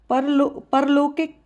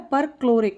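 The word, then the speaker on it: परक्लोरिक: परलोकिक लोरिक पर क्लोरिक यह गलत उच्चारण हुआ है। पर क्लोरिक इसको बोलेंगे अपन पर क्लोरिक एसिड।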